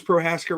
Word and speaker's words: Prohaska: Did I pronounce Prohaska right there?